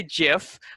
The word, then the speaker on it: GIF: uh what is a gif uh the the pronunciation let's get that out of the way um so some people say jiff uh uh like like the peanut butter um i prefer gif